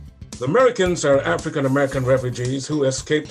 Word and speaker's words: Merikins: they call themselves the americans but because of their native languages from africa they pronounce the word without sounding the a in american pronouncing it instead as